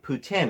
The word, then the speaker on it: poutine: cheese curds and Putin I think I said poutine Putin is the correct pronunciation according to her and she's right so I had an